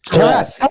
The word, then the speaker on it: Tarrasque: And that is going to be with the on the Tarrasque or Tarrasque. I always say it wrong. Tarrasque. Every time. No, it's Tarrasque.